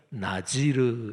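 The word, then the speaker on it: נזיר: 하나님 앞에 헌신한, 어렸을 때부터 헌신한 사람을 나시린이라고 하는데 그게 히브리어 발음이 나지르 이렇게 돼요.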